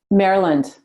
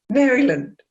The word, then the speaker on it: Maryland: How do you pronounce it? Maryland. Maryland.